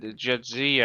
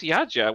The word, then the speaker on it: Jadzia: So whenever they said Jadzia, I was like, "This is Yaja.